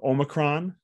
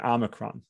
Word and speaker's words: omicron: that we know is there's two ways to pronounce it so omicron and omicron all right that's the